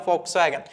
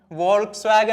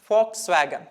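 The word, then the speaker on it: Volkswagen: ഒരു car company ആകും ഫോക്സ്വാഗൻ ഇത് കുറെ ആളുകൾ എപ്പോഴും വോൾക്സ്വാഗൻ എന്ന് വായിക്കുന്നുണ്ട് തെറ്റാണ് ഫോക്സ്വാഗൻ കാരണം വി വരുന്ന സമയത്ത് ജർമനിൽ ഉച്ചരിക്കുന്നത് എഫ് ആയിട്ടാണ് ഉച്ചരിക്കുക സോ ഫോക്സ്വാഗൻ വി വരുന്നത്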